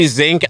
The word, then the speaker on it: Szink: At Szink Big on deal, Twitter. That's not Szink. Zinc, like the mineral. It's Yeah. pronounced that way, but it's SZINK.